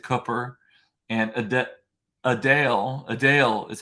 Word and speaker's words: Adele: we were talking about um earlier that people mispronounced my name they said copper and a Dale a Dale is how you're supposed to say not Adele so to speak Adele um so I was